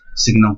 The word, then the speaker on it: signum: Now next, signum function, or it is also known as sinum function. In some books pronunciation given as sinum function, or sometimes you can read it as signum function.